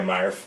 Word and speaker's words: Morph: Morph. Yeah, I believe the ability is pronounced Marf and Mega Marf.